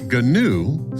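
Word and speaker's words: GNU: in Cloud deployments nerd reference G andu pronounced ganu stands for G news not Unix it is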